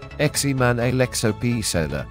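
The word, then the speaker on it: Germán Alejo Pezzella: German Alejo Petzela, Spanish pronunciation, Eximan Alexo Pizela, born 27 June 1991, is an Argentine professional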